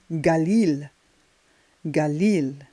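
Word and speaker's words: גליל: here it's beautiful part Galilee but in Hebrew it's gal gal and we have Gorilla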